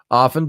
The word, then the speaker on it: often: were taught in class the T is silent and often if you say often you got to fix it all right now I'm